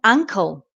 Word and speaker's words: ankle: think okay another one is uncle uncle and Ankle uncle and ancle two words very similar so